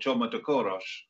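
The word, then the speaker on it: Csoma de Kőrös: Moorcroft and this rather strange Hungarian linguist called Csoma de Koros, which... I like the way you pronounce that, James.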